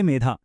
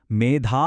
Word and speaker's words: మేధా: మేధా అని పలకాలి. పొరపాటున ఒత్తు లేకుండా మేధా అని పలికామ అనుకోండి దానికి అర్థం శరీరంలో ఉండే కొవ్వు అని మారిపోతుంది.